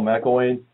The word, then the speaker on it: McIlwain: is stephen mccarthy we are here with kamal mcelwain um did i actually say your last name